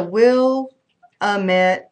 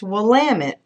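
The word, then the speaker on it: Willamette: Oregon turns out that will AMT is actually pronounced wamit Helen purchased this t-shirt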